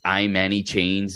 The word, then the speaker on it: Manny Chains: It's Manny Chains, Manny, but chains, in Spanish, or translated in English. Okay. I Manny Chains, just the way you think it sounds, and it's the way it's spelled.